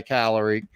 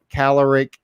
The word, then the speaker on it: caloric: And here I was decreasing my caloric caloric intake. Is that how you say it? Caloric. Caloric. Not caloric. Well, caloric works too.